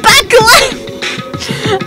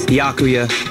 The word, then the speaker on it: Byakuya: Bakula! Sorry, that's funny. It's Byakuya.